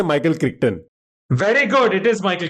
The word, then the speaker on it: Crichton: Sorry, how do you pronounce it? Crichton.